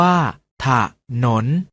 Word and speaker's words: ถนน: ออก เสียง ว่า ทหาร ถนน ออก เสียง ว่า ถ้า ถนน ฉลาม ออก เสียง ว่า